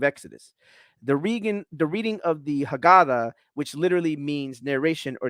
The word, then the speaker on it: Haggadah: The Haggadah. And I'm pronouncing it that way so others can pronounce it. I could pronounce it more properly, but I'm just, or the Haggadah, or the Haggadah, or Haggadah.